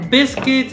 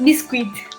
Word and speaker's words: biscuit: yeah similar yeah so i always said um bisquit no biscuit biscuit okay okay receipt reset